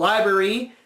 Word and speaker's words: LBRY: We discovered a service called Library, which is LBRY, but still pronounced library.